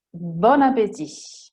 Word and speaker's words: bon appétit: Stessa cosa per bon appétit. Normalmente si dice bon e appétit. Insieme bon appétit sono collegati.